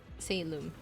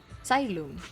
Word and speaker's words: Xylem: I forgot it's pronounced Salem. No, Xylem. Yeah, it's pronounced as Xylem.